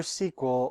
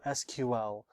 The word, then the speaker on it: SQL: pull data from databases I prefer SQL over SQL how it's actually pronounced is Up For Debate SQL has many different